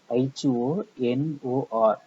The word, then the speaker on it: honor: Exception: when the consonant H is silent. Example: HOUR, R, and R. HONOR, honor, and honor, and R, and honor.